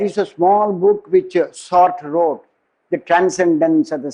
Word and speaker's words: Sartre: Sartre, S-A-R-T-R-E. I mean, some people say Sartre. I don't know, but my teachers in Stanford, they said Sartre. Probably the French way, the Anglicized way may be different pronunciation.